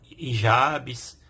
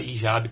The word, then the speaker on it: hijab: E aí, elas, dependendo da região, da cultura, elas utilizam aí burcas ou utilizam hijabs, certo? Pode pronunciar hijab com o H mudo, ou hijab também.